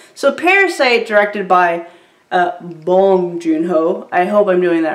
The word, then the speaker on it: Bong Joon-ho: was saying I am American I was saying bong joon-ho and I said like five times and then